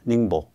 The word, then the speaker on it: 닝보: 닝보라고 읽나? 닝보.